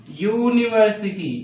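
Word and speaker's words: university: एन होना चाहिए था, बट इसका प्रोनाउंसिएशन क्या निकल रहा है, यूनिवर्सिटी, ठीक है। तो ये फिर से प्रॉब्लम यहाँ पर आ गई, या आ रहा है, वाई आ रहा है, तो वाई क्या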